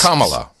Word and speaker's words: Kamala: For one thing, there's a whole video on how to pronounce her name. Yes, it's Kamala.